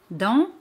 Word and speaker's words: dans: Dans significa in o dentro. Dans. Ese al final no se pronuncia.